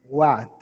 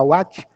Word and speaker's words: What: vocês aí qual What o W tem o som g u o h é mudo O a tem o som de a e o t tem o som de T só que ao invés de você falar What com T normal você fala com T com a